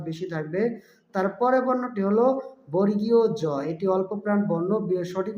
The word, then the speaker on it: জ: বর্ণ বাতাসের চাপ বেশি থাকবে তারপরের বর্ণটি হল বর্গীয় জ এটি অল্পপ্রাণ বর্ণ সঠিক উচ্চারণ হবে বর্গীয় জ অনেকে এটাকে বর্গীয়ত জ বা বর্গীয়ত জ বলে থাকে তারা ভুল উচ্চারণ করে থাকে সঠিক উচ্চারণ হবে বর্গীয় জ তারপরের বর্ণটি হল ঝ এটি হল মহাপ্রাণ বর্ণ